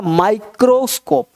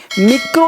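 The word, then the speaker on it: microscope: माई है एम है तो इसको पढ़ माइक्रोस्कोप माइक्रोस्कोप मिक्रो नहीं पढ़ेंगे लोग आई को ई पढ़ते हैं तो मिक्रो हो जाएगा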